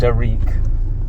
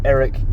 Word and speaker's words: Arik: Usually mispronounced Arik, but Arik Gilbert.